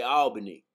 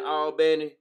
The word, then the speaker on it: Albany: how they say it most people say Albany but where I'm from they pronouncing Alan you feel me yeah man the albny according to the albny